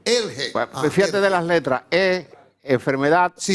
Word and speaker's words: ERGE: Y se pronuncia así, ERGE. ERGE. ERGE.